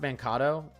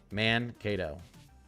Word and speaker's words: Mankato: Mankato. Mankato. Okay, I was right the first time.